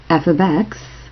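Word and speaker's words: f(x): meaning one output it is often written as f of X that's how you say it f of X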